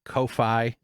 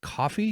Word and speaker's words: Ko-fi: description uh PayPal direct Kofi it's pronounced coffee because their whole gimmick is buy me a coffee but the website is